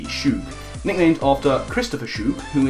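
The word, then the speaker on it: Schoug: Followed up with Pidgeotto, who is called, and I think I'm pronouncing this right, Shug. C S-C-H-O-U-G, Shoog.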